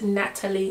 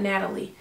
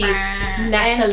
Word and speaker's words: Natalie: If you didn't know, it's Natalie, not Natalie. Pronounce the T. Natalie.